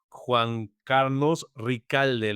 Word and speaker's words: Juan Carlos Ricalde: Y sin más preámbulo, les presento a mi invitado del día de hoy, Juan Carlos Ricalde. ¿Lo pronuncié bien?